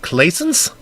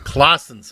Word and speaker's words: Clausen: of your last name is it clay scense no it's Clausen's okay exactly congratulations on never